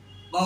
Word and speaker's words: ق: এই হরফটির নামে শুদ্ধ উচ্চারণ করতে হলে জিহ্বার গোড়া তার বরাবর উপরের তালুর সঙ্গে লেগে এই হরফটি মোটা আওয়াজে উচ্চারণ হবে।